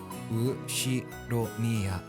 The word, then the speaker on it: Ushiromiya: Ushiromiya. And that's a fairly plausible Japanese pronunciation so far.